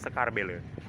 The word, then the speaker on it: Sekarbela: inilah Dia Sekar Belle atau tulisannya sekarbela bacanya sekarbele kita coba tulisan itu